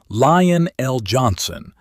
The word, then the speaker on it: Lion El'Jonson: Pin the pronunciation now because the audience will. It is Lion El'Jonson, and it is Caliban.